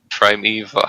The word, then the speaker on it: primeval: book called True Stories from Nature about the primeval, how do you pronounce that?